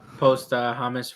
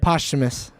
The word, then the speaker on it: posthumous: It says on a wiki too, post Hamas release, or how do you say that word? Posthumous.